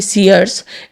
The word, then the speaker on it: Sears: एक कंपनी है जिसका प्रोनाउंस करेंगे सीयर्स, SEARS।